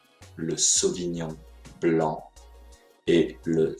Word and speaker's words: sauvignon blanc: pinot gris le pinot gris le sauvignon le sauvignon blanc le sauvignon blanc et le 6 rapp le sirha voilà pour